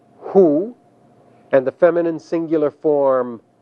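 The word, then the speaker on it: הוּא: The masculine singular form that translates that is pronounced hu, and the feminine singular form that is pronounced he.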